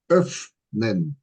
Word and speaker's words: öffnen: So today we're gonna go with the verb öffnen. Beautiful verb. And we got the Ö sound and the double F. So the emphasis is on the F. And so we pronounce it öffne.